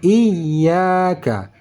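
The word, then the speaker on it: إِيَّاكَ: satu Alif dua harkat Bagaimana cara membacanya dia kita tekan karena tasydid dan di Alif pun kita berhenti sebentar ataupun panjang sedikit karena Alif Mad Iya iyaka iyaka Jangan sampai iyaka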